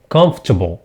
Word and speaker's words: comfortable: no not comfortable comfortable okay we removed R we remove the r we say comfortable comfortable comfortable comfortable comfortable